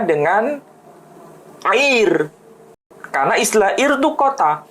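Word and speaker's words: עיר: Tapi kalau kota dalam bahasa Ibrani itu air. Ain, yod, kemudian resh. Air itu arti harfiahnya kota.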